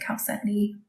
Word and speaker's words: chalcedony: So it looks like chalcedony, but you pronounce it chalcedony.